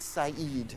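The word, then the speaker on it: Said: at the top he's no longer alive Edward SED is the way we pronounce it s and Edward SED um is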